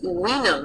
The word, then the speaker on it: vinum: The letter V makes a R sound like a W, like the word wine. The Latin word for wine is vinum, but it's spelled with the V.